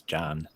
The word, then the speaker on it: Can: It's weird Turkish spelling. It looks like Can, but it's John.